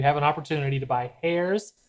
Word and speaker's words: Herr's: an opportunity to buy hairs, that's H E R R P. I believe it's pronounced hers.